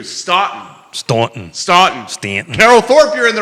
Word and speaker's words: Staunton: Carol Thorpe, Stanton, pronounced with the U, Staunton.